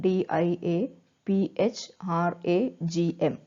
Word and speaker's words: diaphragm: called diaphragm so see the spelling of diaphragm d i a p h r a g m so it is pronounced or it is read as diaphragm so